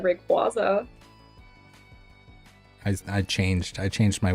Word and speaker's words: Rayquaza: is it for you I used to say Rayquaza but then I learned that it's Rayquaza like a quasar I've always said Rayquaza I changed I changed